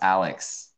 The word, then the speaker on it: Aylex: matter he likes feather my name is actually pronounced alex okay alex now